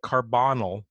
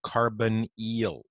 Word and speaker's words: carbonyl: So anytime I say, I know it looks like carbonyl, but that's not how you pronounce it. You say carbonyl.